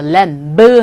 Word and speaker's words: lamb: lamb. 하지 마십시오. 이때 V 사운드는 묵음이죠. lamb.